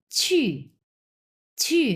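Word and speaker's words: 去: word পড়বো আমরা নিউয়ার্ড কি দেওয়া আছে দেখেন ছি মানে হচ্ছে টু গো এটা হচ্ছে ছ এর উচ্চারণ এটা কিন্তু ছি আমরা বাংলাতে যে ছিছি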